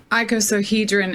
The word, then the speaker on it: icosahedron: really important can i point out the the icosahedron is how you say it the the same